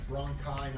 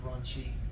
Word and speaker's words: bronchi: It's bronchi, not brunchy.